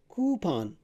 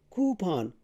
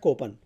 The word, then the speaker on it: coupon: So again, the stress is on the first syllable, and then this sound is oo. It's a long vowel. So you say coo, coupon, coupon, not coupon, coupon.